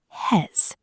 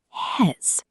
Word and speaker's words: he's: Hez. Listen carefully. Hez.